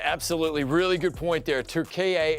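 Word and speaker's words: Türkiye: really good point there 2ka is the correct pronunciation of the country they did Rebrand and we should be saying it correctly old habits die hard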